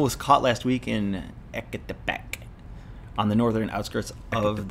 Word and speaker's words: Ecatepec: They needed The couple was caught last week in Ecatepec, on the northern outskirts of the capital. I think I said it right. Ecatepec. Yeah, Ecatepec.